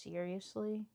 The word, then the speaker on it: Sir Sly: I call it Sir Sly. I don't know if it's actually supposed to be pronounced seriously and it's just a joke and I refuse to engage with it, but it's you haunt me.